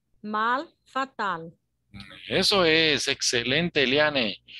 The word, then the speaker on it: fatal: Fatal, ¿no? No olvidándonos pronunciar bien la última letra también, ¿no?